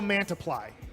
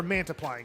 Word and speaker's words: Mantiply: t p l y it's like when you have one thing and one almost multiply but we're mantiply here okay multiple men much